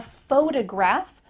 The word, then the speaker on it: photograph: Do you notice that the first syllable is emphasized here? Photograph compared to I'm a photographer. Ph, that first part is small.